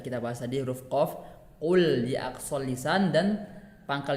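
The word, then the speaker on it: قُل: Ketika membaca huruf qaf itu qul, bukan dengan huruf kaf, kul. Nah, yang mana sudah kita bahas tadi huruf qaf, qul di aqsal lisan, dan pangkal lidahnya agak dinaikkan ke langit-langit seperti itu.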